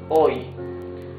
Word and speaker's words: hoy: Hoy. H is mute, so you pronounce the O and the Y.